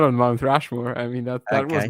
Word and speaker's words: Rushmore: There is another sort of Mount Rushmore.